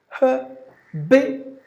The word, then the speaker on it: habitual: For example, you say habitual, habitual. So b should be given more volume, or b is heard little longer than the remaining syllable.